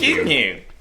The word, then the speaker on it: Gyllenhaal: Gyllenhaal. No, it's not G. It's Gyllenhaal.